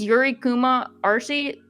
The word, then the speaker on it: Yuri Kuma Arashi: This is Yuri Kuma Arashi.